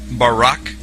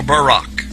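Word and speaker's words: ברק: So lightning or a flash of light in Hebrew is pronounced barak or barak.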